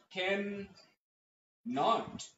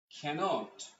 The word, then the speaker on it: cannot: যখন সাউন্ডটি হচ্ছে ক্যানট, তখন এটা কনফার্ম যে এটা একটা ওয়ার্ড, একই ওয়ার্ডের উচ্চারণ, উচ্চারণ হবে একসাথে ক্যানট, ক্যানট। আই মিন দুটো এন উচ্চারণ হবে না, ডাবল এন উচ্চারণ হবে না। উচ্চারণ হয় না, এটা একটা ব্যাপার। একটা এন উচ্চারণ হয়, তাই ওয়ান সাউন্ড, মানে এক শব্দ।